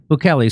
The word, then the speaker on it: Bukele: Bukele. So extraordinary El Salvador. Or if you're Alex Jones, you can pronounce it Bukele.